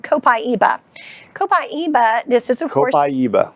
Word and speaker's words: copaiba: So this is an oil called copaiba. Copaiba, this is of course... Copaiba. Copaiba. How do you spell that?